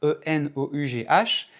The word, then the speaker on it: enough: E n o u g h et ça se prononce tout simplement enough.